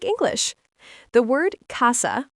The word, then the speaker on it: casa: The word casa, pronounced casa, means house.